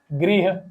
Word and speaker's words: गृह: और इसका गृह। इसका है ग्रह और इसका गृह।